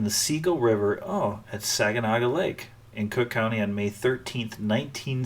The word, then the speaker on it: Saginaw: a good guess cuz that's the right how you say it it's Saginaw oh nice tsegga now